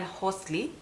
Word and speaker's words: Housel: this book the psychology of money by Morgan Hosley that is the right uh pronunciation so I read this book I think